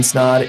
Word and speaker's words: Snod: My name is Snod. It rhymes with odd, and I'm out.